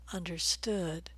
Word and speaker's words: understood: relaxed sound ooh would understood and this is a compound verb and compound verbs understand understood will be stressed on the second syllable all right so we've